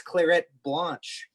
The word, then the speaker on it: Clairette Blanche: What's Clairette Blanche? And am I saying it correctly, Randall? You are.